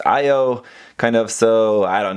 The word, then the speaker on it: Io: The Japanese pronunciation is Io, the English pronunciation looks like it should be pronounced Io, kind of, so I don't know, go with whatever you want.